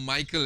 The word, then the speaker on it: Mikhail: archangels uriel raphael raguel mikhail or michael as most of most of us will pronounce it in english sariel gabriel remyel uh